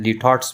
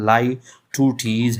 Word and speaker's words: Litotes: लाई टू टीज़ figure of speech है, या जिसको बाज़ लोग लिटॉट्स भी कहते हैं। यह असल में इसकी प्रोनाउंसिएशन लाई टू टीज़ है और ये फिगर ऑफ स्पीच में आता है।